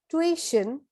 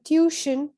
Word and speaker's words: tuition: pronounced as silhouette silhouette next word is tuition for the british and tuition for the americans tuition for the british tuition for the americans where the stress is in the first syllable in the british accent and the stress is on the second syllable in the american accent this word is again